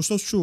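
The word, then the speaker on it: shochu: O sochu, o destilado o japonês, que é 30-40% de álcool, por exemplo. Isso. Tá. Aqui a pronúncia é muito parecida com o soju, que é o destilado coreano que tem 15-16% de álcool.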